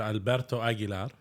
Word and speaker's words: Alberto Aguilar: we have a very special man, Mr. Alberto Aguilar. And I said it right, correct? That's the right way of saying it, yeah.